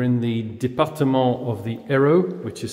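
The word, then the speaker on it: Hérault: sanus defont we're in the Depart of the Aro which is spelled h e r a u l t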